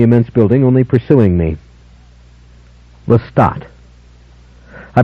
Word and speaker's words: Lestat: building only pursuing me lestat i pronounced my name carefully for her lestat primary stress on the second syllable sounding the final t distinctly listen nobody knows about